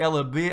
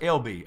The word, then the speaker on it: Ella B: Let's see, Ella B, I'm sorry. Thanks, guys, and it's pronounced LB. Okay, so LB.